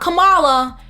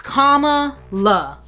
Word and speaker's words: Kamala: Kamala. Not Kamala. It's Kamala. Once you once you hear it one time, you should be able to pronounce it.